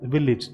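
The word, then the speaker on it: village: इसका प्रोनाउंसिएशन भी देख लीजिए, जो भी AGE एंडिंग्स होती है हमारी, उसको हम इज प्रोनाउंस करते हैं। तो ये कैसे बोला जाएगा, विलेज, इसको बोलेंगे हम विलेज।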